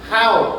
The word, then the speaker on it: how: La H no es muda porque tiene la vocal y por eso se pronuncia how, which, cuál.